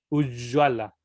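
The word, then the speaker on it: ujjvala: Se pronuncia exactamente igual que como la doble L. Ujjwala.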